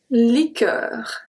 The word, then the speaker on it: liqueur: Now if we have QU in the middle of the word, it's exactly the same thing. We do not pronounce the U. We have la liqueur, la liqueur, liqueur, la liqueur, le cirque, le cirque, cirque.